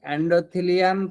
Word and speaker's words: এন্ডোথেলিয়াম: আপনারা কি শুনতে পাচ্ছেন উচ্চারণটা? এন্ডারিয়াম। এন্ডোথিলিয়াম। এরপরে যে পার্টটা এই পার্টটাকে কি বলা হচ্ছে? এন্ডোথিলিয়াম পার্ট বলা হয়।